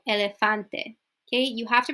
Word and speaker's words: elefante: e or an A so Elefante so what's not going to be elephante or I don't know okay it's Elefante okay so it's always that same sound we're not going to change the last word to like an A so like elephante no Elefante okay you have